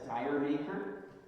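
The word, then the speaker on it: D'yer Mak'er: a led zeppelin tune called your maker often pronounced in north america as dire maker um and it was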